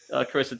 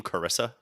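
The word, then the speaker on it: Charissa: Do you know how she spells her name, Carissa? C-A-R. No. No. No, then. C-H-A-R. Carissa? Like C-H as in Chianti.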